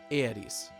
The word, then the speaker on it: Aeris: In Japanese, Aeris' name is written Earisu, or Earisu. See that character there? That's the Su kana. And when you pronounce this character in Japanese, there's a tendency to drop the U sound at the end, in this case giving Aeris.